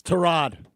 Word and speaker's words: Tyrod: You're my pronunciation guy. It's Tyrod.